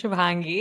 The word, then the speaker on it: Shubhangi: So for anyone who's curious about my name is Shubhangi. And if you cannot pronounce it, I love Shubi.